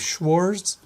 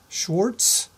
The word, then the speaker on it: Schwarz: German mathematici I named Schwarz Schwarz um if you want to pronounce it more like the Germans do you would pronounce the W as a v Schwartz something like that I